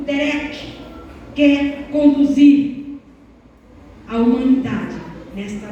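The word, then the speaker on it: דֶּרֶךְ: Essa palavra caminho no hebraico se pronuncia assim: derek.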